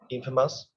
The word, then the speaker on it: infamous: uh in Farmers uh the stress on the first uh infamous Infamous right so do you know